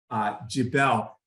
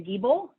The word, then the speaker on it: Giebel: We will go to Jabel. And please, if I mispronounce your surnames, please correct me if I get your pronunciations wrong. It's actually Giebel.